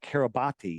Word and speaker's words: Kiribati: wide, and it's registered to the country of Kiribati. Have you ever heard of Kiribati? It's pronounced Kiribat, but it's spelled Kiribati.